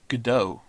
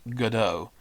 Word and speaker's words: Godot: the name gado comes from uh the irish godot which means forever my mind is blown right now i don't know if you if you want another fun fact it's pronounced gato and not godot as some of our american friends like to